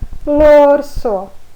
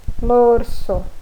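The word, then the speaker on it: l'orso: E no momento da leitura também lê-se como se fosse uma palavra só. Então fica lorso, lorso, ok?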